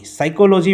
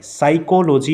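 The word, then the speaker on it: psychology: সাইকোলজি বানানটা সকলে আবারও দেখো পরীক্ষায় ধরতে পারো এটা চলে এসেছে পি এস ওয়াই সি এইচ ও এল ও জি ওয়াই সাইকোলজি আমরা উচ্চারণ করছি সাই কিন্তু এখানে আছে পি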